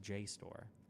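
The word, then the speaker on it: JSTOR: the side and everything it's pronounced J store if the civilian to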